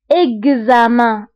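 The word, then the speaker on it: examen: اكزاما، هنا ايضا اكس جات ما بين دو فويل اللي هما او و ا، دونك قريناها بكز، اكزاما.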